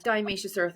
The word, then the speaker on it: diatomaceous earth: I'm just curious, how long did you take is it diatomaceous earth? Yeah, yes, diatomaceous earth is how you pronounce it exactly.